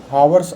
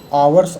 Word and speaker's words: hours: और कार्य समय, कार्य समय को हावर्स of business, आवर्स of business, हावर कभी नहीं पढ़ा जाता है।